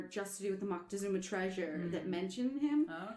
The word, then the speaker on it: Moctezuma: I'm calling him Moctezuma. That's the proper name.